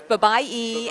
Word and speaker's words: Babaii: I'm here with Babaii, and I just found out I've been mispronouncing it forever. Right, So it's Babaii. Babaii, yeah, it's about. What else have you heard? I've been called Barbie, Baby, the works.